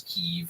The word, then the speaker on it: Kyiv: They have their Ukrainian flags, and they're willing to pronounce Kiev as Kyiv, and they're doing all the steps that you need to do.